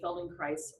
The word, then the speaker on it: Feldenkrais: say Feldenkrais rhymes with rice.